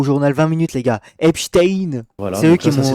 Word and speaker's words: Epstein: J'ai appris à le prononcer grâce au journal 20 minutes, les gars. Epstein.